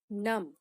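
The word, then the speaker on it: numb: में बोलते हैं नम नम एन यू एम बी यहां पर बी साइलेंट है इसीलिए इसे नम प्रोनाउंस किया जाता है माय फिंगर्स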